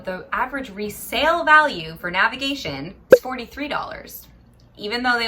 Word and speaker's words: NVGTN: say that it is navigation and it's spelled nvgtn but it's pronounced navigation and navigation was founded